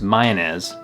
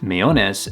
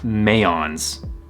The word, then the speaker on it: Mayones: And yes, it's pronounced Mayones by the employees of the company, so I'm gonna stick with their pronunciation because they probably know what they're talking about.